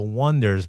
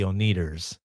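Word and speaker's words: Oneders: So, in the movie, the band's name is called The Wonders, but they spell it with an O ne, as iners. Yeah. Everyone gets it wrong. And they call them the Oners.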